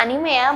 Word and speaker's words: anime: cara pengucapan yang benar mulai sekarang nyebutnya animea bukan Enim lagi kata-kata selanjutnya pasti familiar